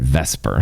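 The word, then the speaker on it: VSEPR: Let's call it vesper because that's a lot easier to say.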